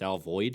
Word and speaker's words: Alvord: Like I live in Alvord, but it's not supposed to be pronounced Alvord. It's Alvoid.